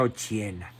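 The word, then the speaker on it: Occhiena: se llamaba Margarita ochena ochena con doc se pronuncia ochena eh su formación profesional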